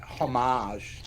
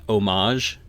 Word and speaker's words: homage: I mean, it's one thing to pay homage to these, classic science fiction stories as Predator, Aliens, and. I'm sorry. Did you just pronounce the H in homage?